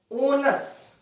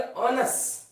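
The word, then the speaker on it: onus: ओनस, ओनस का मतलब होता है, ओनुस नहीं पढ़ेंगे, इसका प्रोनाउंसिएशन पढ़ेंगे ऑनस।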